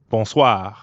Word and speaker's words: bonsoir: is that means evening the end sound is kind of like saying ah at the dentist also ends in r so we've got that really light gargling in the throat again good now it's your